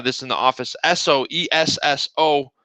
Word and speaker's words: Esso: in the office Soo Esso if you just pronounce it s o That's Standard Oil e s is s and then the O is oil so there's a you